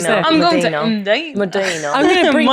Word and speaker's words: Mdina: I think I used to say Medina. Yeah, that's wrong. And it's Imdina. Medina, yeah. Imdina. Medina. Oh, look at the ladies there. I'm going to Medina. Imdina.